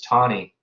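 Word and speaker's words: Taney: supreme court under justice tawny i realized it spelled tani in the textbook but there is a w in there in terms of the pronunciation he really issued this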